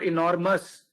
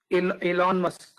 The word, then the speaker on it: Elon Musk: Elon Musk, Gulzar, Elon Musk, no, not enormous, Elon Musk.